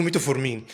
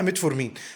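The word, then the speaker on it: metformin: ومتعود لا اقول له ميتو فور مين فتلاقيني وانا بتكلم بقول له ميتو فورمين اتعودت لكن انا عارف ان الصح ميت فور مين فمعلش انا هادفي توصيل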